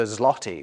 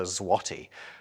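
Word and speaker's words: złoty: of people think that the Polish currency is called the zloty when it's in fact called the zwati what's more this letter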